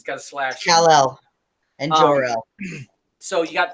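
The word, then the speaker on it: Kal-El: Cal Al. It's like one word. You say it like it's one word.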